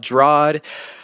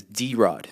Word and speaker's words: Drod: say my name is D Rod because my first name is and my last name is so you put the